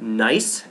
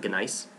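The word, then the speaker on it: gneiss: metamorphic rock is called nice G NE I SS the g is silent it's not ganice I'll make fun of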